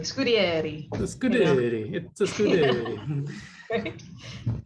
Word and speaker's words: Scudiere: Yeah, I tell people it's Scud like a Scud missile, Scud. And dairy like the farm. Scudiere. Yeah. So I've been saying Scudiere. You know, it's very Italian, like Scudiere.